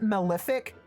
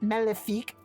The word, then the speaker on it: Malefic: I know some people pronounce it Malefic. I like to pronounce it Malefique because it is benefique. It's French.